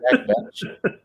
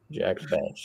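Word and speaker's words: Jack Bech: No, Jack. It's Besh. Jack Besh. Jack Besh is how you say it.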